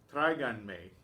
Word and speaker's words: tráiganme: pronouns onto the end, tráiganme. So we keep the stress in the same place. We show that with the accent on the A of traigan.